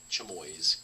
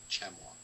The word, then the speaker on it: chamois: it on the table i believe my wife would kill me for pronouncing that chamoys because i do believe that's chamois chamois possibly let's read it